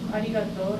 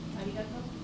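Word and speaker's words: ありがとう: Let's talk about pronunciation of R. In Japanese, there is no R sound. Some people say it's arigato, by the way. Arigato, arigato, some people say that between L and R.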